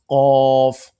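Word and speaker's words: قاف: Is a full mouth sound qaf alif zabar qa.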